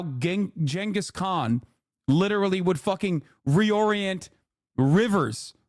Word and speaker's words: Genghis Khan: Genghis Khan is how you say it, you fucking idiots.